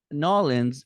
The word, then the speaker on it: New Orleans: Erynn, Nolans, I have to pronounce it Nolans because I was told to do that by locals when I last visited.